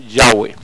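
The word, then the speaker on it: Yahweh: tengan una idea de por qué es la pronunciación correcta nueva en idioma ni llaves sino yagüe y aquí tenemos que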